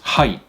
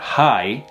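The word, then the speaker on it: はい: Yes is hai. H-A-I, hai, hai. Not hi, like hello, hi, it's hai, hai.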